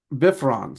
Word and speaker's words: Bifrons: I've also heard it um pronounced B. Um Oh, I can't even say it. I always pronounce it bifron. So, Biffrons is how Biffrons is how someone else pronounced it. I've always heard it. Bifrons, but you know. And now that I think about it, um Biffrons and BRS was another one I've heard.